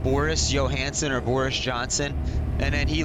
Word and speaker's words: Johnson: Boris is I don't know if it's Johnson or Johansson, how you pronounce that. Is it number one Boris or number two Johansson? How do you say his name? Johnson. Boris Johnson.